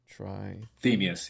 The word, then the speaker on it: Trithemius: Trithemius, yeah.